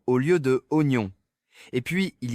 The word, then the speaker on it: oignon: Un autre classique, c'est Oignon franchement qui a décidé qu'on écrivait ça avec autant de lettres muettes. Si tu le lis comme c'est écrit, c'est un désastre. Totalement. J'ai déjà entendu des gens dire ignon au lieu de oignon.